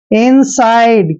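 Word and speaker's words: inside: है next word है जैसे आई को हम क्या पढ़ते हैं ई और एन को हम क्या पढ़ते हैं न और और एस का उच्चारण करना है स और आईडी ई का उच्चारण हमने आइड करना है इनसाइड क्या हो गया इनसाइड इनसाइड क्या होता है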